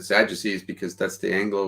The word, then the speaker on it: Sadducees: it um but no I said Sadducees just because it's like if I were to actually pronounce it in Greek it would be sad UK's because there isn't a